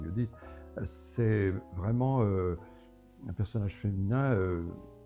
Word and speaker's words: Judith: Mais euh le personnage de de Judith, ça s'écrit Judith, mais ça je pense c'est Judith, c'est vraiment un personnage féminin vigoureux.